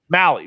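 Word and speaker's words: Mahle: the thunderdome he's got tyler how do you pronounce his last name it's m-a-h-l-e now mally mally thank you under two and a half earned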